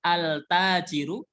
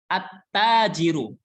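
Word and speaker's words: التاجر: dibaca bacanya bukan altajiru bukan altajiru tapi attajiru attajiru Alif lamnya tidak terdengar saat dibaca jadi ketika ada huruf-huruf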